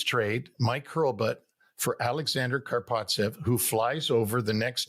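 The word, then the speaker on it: Karpovtsev: He says, Karpatsev. I go, okay. I call Pierre Pagé back and I said, we'll take this guy, Karpatsev. And so we make this trade, Mike Hurlbutt for Alexander Karpatsev, who flies over the next day or within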